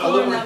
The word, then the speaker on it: aluminium: It's Aluminium. aluminium in English. Aluminium. But it's the same thing? It's the same thing. Aluminium foil and aluminum foil.